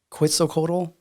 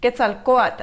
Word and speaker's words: Quetzalcoatl: Where at the temple, I think Kukulkan or where Quetzalcoatl, that little, when you're right there in front of El Castillo is what you're talking about.